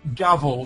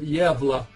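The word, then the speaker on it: Gävle: and search for um and spell it gavel g-a-v-l-e this is some the swedish town of yevla so g-a-v-l-e if you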